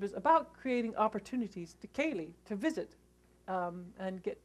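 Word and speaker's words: ceilidh: c i l i d h which is pronounced Kaye though you might not have guessed that by the spelling it's pronounced it's Kaye and it means traditionally a visit now modern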